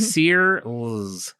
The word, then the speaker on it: Searles: I was like, how do you say your last name? She's like, Searles.